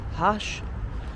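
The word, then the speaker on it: khash: There's one dish called hash it's pronounced.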